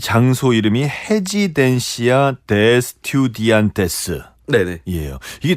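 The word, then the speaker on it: Residencia de Estudiantes: 그러니까 R 발음이 H 발음이 나거든요. 스페인은. 그래서 레지던스죠. 레지던스 오브 스튜던트죠. 헤지덴시아 디 에스디안테스가 레지던스 오브 스튜던트예요.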